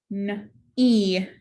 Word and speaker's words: knee: We have digraph KN, cross out the K, and digraph EE. The E says E, the second E is silent. Knee.